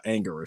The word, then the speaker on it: Anguirus: Um, so it but more more so than not when I say his name out loud, when I type it on a post on Facebook, it's normally uh Angorus.